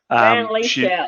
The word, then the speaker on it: Van Lieshout: This is Governor General Van Lieshout. Van Lieshout, that's how you say my name.